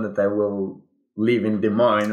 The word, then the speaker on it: Des Moines: I will live in Des Moines right now. Des Moines, Iowa. The monks. And the monks. So Des Moines which we can say des moines. It's the actual like French pronunciation.